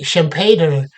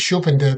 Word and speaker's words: Schumpeter: I think in German it's probably pronounced Schumpeter, but in English it's Schumpeter.